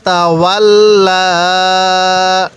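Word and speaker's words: تولى: তাহলে আবাসা ওয়া তাওয়াল্লা, ওয়া তাওয়াল্লা। এই লামের মধ্যে আমরা টান দিব।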